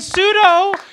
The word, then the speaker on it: pseudo: And pseudo, you don't even pronounce the P.